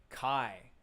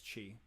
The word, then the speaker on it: chi: upsilon okay yeah yeah it's chi oh no no it's kai it's kai isn't it okay at least